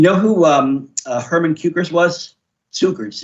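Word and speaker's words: Cukurs: Cukers is how you pronounce it, actually.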